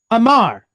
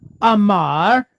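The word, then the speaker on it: אמר: in the middle right how would we pronounce these three letters Amar which means what to speak or when you hear him say like I say unto you right it's Amar right to to speak okay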